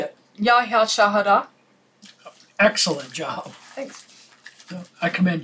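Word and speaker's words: Ya hya chouhada: Yahahi Chachudada. What the hell? Pronounce it. Say it. Yahya Shahada.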